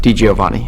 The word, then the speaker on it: DiGiovanni: pronounces things slightly different if you split my last name into two different ways it's giovan so that makes it easier to think about D Giovani if you put it